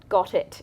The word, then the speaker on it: Ghotit: It's spelt interestingly because it was actually designed by a dyslexic software engineer. So it's GHOTIT. So if you're trying to search for that, you definitely have to spell it correctly.